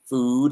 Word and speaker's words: food: the difference food comida food is long and tense and food is no tension on the lips and short food foot but look